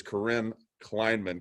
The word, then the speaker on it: Corinne Kleinman: Who we do have with us, and I'm very grateful for it, is Corinne Kleinman. Corinne, am I pronouncing that right?